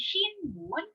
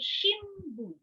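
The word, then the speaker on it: 新聞: So instead of saying shinbun, we say shimbun.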